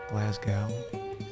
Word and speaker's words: Glasgow: Oh man, I bet everyone pronounces that wrong. Glasgow.